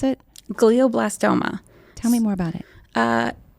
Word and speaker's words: glioblastoma: How did you pronounce it? Glioblastoma.